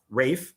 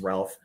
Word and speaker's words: Ralph: No, because he fights Rafe Fiennes. I still say his name is Ralph.